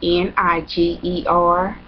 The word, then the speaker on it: Niger: and Nigel is spelled n-i-g-e-r and a lot of people think that you know like you know or night girl or something like that but it's Niger and I like my